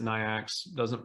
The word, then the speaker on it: NAICS: If you haven't heard me talk about NAICS codes from part 1, this is where I'm going to introduce it to you. So the North American Industry Classification System, I call it NAICS, some pronounce it NIACS, however you pronounce it,